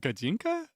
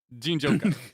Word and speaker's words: Ginjoka: is it Gajinka? Ginjoka. I'll remember that.